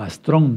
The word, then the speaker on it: astrón: que tener una explicación astron o astrón más bien astrón con acento en la o es una palabra aguda que termina en N Entonces se subraya se pone acentoastrón igual estrella astrón igual